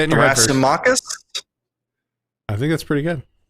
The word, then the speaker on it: Thrasymachus: It's Thrasymachus. A Z sound.